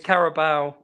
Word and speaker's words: Carabao: I think it's pronounced. It's Carabao.